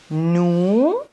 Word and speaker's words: nous: il elle elle nous nous elle on ne prononce pas le S plus réel et maintenant